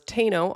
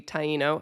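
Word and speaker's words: Taíno: By the way, I pronounced the name of these people as Teno on our original mini episode and then I heard elsewhere it was supposed to be Tyino and I was like, "Oh no, I said it wrong."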